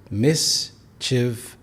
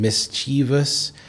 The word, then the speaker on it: mischievous: There are 3 syllables. Mischievous. Here, a common mistake is to pronounce the E sound as in mischievous, but no, it's mischievous.